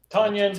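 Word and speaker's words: Tonyan: But FanDuel, which I can't bet on because they're is that Tunyon or is that fake Tunyon? Tunyon. Touchdown to Tunyon. Oh, there it is, Keach. Rhymes with Funyon.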